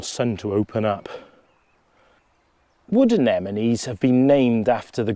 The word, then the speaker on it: anemone: And people quite often either say it or spell it wrong, and it is Anemone, anemone. And like I say, coming from the god Anemos.